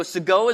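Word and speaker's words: Segoe: OE is our font anybody know how to pronounce it I just said it so I kind of killed it right so soigo is our font and Soo symbol has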